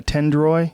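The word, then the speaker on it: Tendoy: Tendroy.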